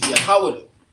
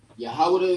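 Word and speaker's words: יהודה: Jew is Yahawada. Yahawada is in the ancient, and Yahawada is in the Assyrian.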